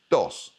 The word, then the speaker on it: doss: Your next slang word is doss. uh meaning something easy or relaxing. And your example sentence, that test was a total doss. And the pronunciation, it rhymes with boss.